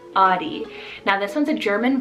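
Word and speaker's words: Ottie: name audi spell o t t i e audi now this one's a german variant meaning strong-willed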